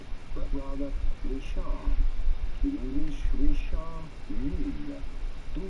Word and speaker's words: Richard Mille: In English, Richard Mille. Do pronounce the double L. Richard Mille is the typical French or Swiss French pronunciation Richard Mille.